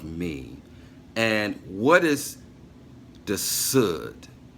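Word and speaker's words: Sod: the soothed it's spelled s UD and it is pronounced like wood so the hood the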